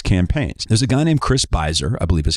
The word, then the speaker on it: Chris Voss: There's a guy named Chris Voss, I believe is how his name is pronounced, I found on Twitter, and he had a lot of interesting thoughts on Kony.